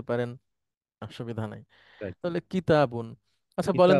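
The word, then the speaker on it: كِتَابٌ: সামনের দিকে যাচ্ছি, আপনি উচ্চারণ করেন এটা। কাতিবুন, না না, কিতা।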